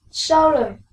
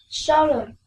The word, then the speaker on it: solemn: Now listen, solemn, solemn. The stress is in the first syllable, right?